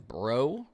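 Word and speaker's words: Breaux Bridge: He's in Brobridge. Is this called? Bro Bridge. I know that's pronounced Bro.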